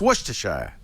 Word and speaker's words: Worcestershire: when you talk in new england take out syllables slur stuff together with almost it's not worcestershire it's worcestershire or worcester yeah yeah so i think it's